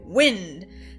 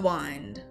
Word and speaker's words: wind: This is early modern English, so they're not going to say wind. They would say, hold the wind. And it would rhyme with mind and behind.